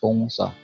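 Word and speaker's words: 동사: So verb in Korean, that is pongsa. Okay, that is a two-syllable word, pong, then sa.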